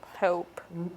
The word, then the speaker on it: hope: which is oh right hope excellent very very well done so the rule in this case with the final silent e is that it does what cancel out its sound and say its name it makes the previous